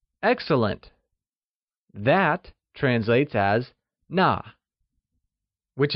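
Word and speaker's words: 那: That translayesas Nà whixh is also pronounced using the falling tone! Try and say Nà ,its like Nà !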